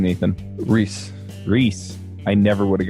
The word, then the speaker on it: Ruehs: how do you say your last name Nathan Rhys Rhys I never would have gotten there yeah